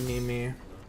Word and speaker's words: meme: friend, and he's like, it's not pronounced memes, and I'm like, what? It's not called memes? I thought it was memes. It's like me twice. And it's like, no, it's meme. It's not, it's just meme.